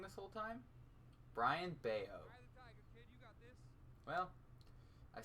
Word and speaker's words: Bello: support nope nothing nothing it's pronounced beo have I been saying it wrong this whole time Brian beo well I say it